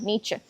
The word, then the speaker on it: Nietzsche: I'm not pronouncing it exactly the way Germans would pronounce it, but I think that's what Americans pronounce it like, yeah, Nietzsche.